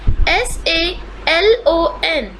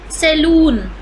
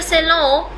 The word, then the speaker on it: salon: our it is our next is s-a-l-o-n many people pronounce it as saloon it is not saloon it is either cello or salon cello or salon both